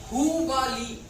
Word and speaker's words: हुबली: हुबली। इसको पूरा प्रोनाउंसिएशन बढ़िया से कीजिएगा, हुबली।